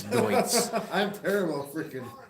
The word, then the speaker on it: Deutz: I always used to say Doots, but it's Deutz.